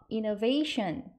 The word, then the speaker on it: innovation: innovation, I-N-N-O 하면 N 발음 한 번 하죠? inno 하고 V-A는 T-I-O-N이 shun 해서 innovation 하면 혁신이라는 뜻이에요.